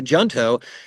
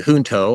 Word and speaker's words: Junto: Franklin before, the Junto, in Spanish we would pronounce it the Junto. I studied Spanish many years ago, and so it's a little hard for me to say Junto, but we suspect that's probably the way that he pronounced it.